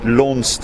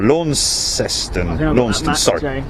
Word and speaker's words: Launceston: you guys sorry Martin it's pronounced launched and/or Launceston I think that max you see